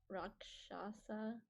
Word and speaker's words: Rakshasa: And then my second belief, I wasn't quite sure this how do you pronounce it? Rakshasa.